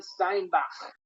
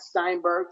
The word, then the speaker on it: Steinbach: Johann Steinbach is how his name is pronounced, not Steinberg for people like me.